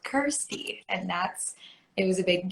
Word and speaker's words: Kirstie: I always knew that I wanted to keep the word thirsty around me because it rhymes with Kirstie.